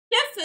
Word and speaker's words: GIF: what GIF stands for, you don't always pronounce the first letters of acronyms the same way as the ones that they... the same way as, you know, the words that they stand for. And there are words in the English language that are pronounced that way, you know, stuff like giraffe. Stuff like giraffe, like gin, like possibly other words that I...